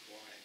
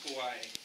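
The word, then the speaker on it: Kauaʻi: and the community of Kauai. So it says that the last king of Kauai, Kaua'i, excuse me for my Hawaiian pronunciation, was born near the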